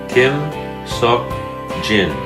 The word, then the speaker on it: Kim Seok Jin: E and the third letter is gin Kim Seok Jin King Saul gin there are two ways to